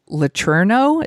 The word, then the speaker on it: Letourneau: But this movie's loosely based on the story of Mary Kay Letourneau. Is that how you pronounce it?